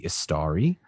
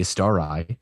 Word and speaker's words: Istari: He is the head of the order of wizards called the Istari or the Istari, depending on interpretations and pronunciations, and there's a lot of them.